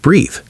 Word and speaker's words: breathe: E for action at the end of breathe. He is inside breathe because he breathes. Breathe rhymes with seethe. Breath rhymes with death.